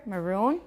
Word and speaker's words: maroon: and that's too next maroon make it longer maroon that's a deep red